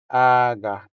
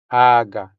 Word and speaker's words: aga: The stress falls on the first syllable. So, I'm going to write the stress mark on top of the first a. Here we go. So, we say aga. aga Notice that the stressed syllable sounds longer than the unstressed syllable. So, since a is our stressed syllable here, It sounds longer than the second a.